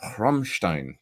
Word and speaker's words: Rammstein: Paul Landers, for having me to the Rammstein, or Rammstein, to say it right, show last night.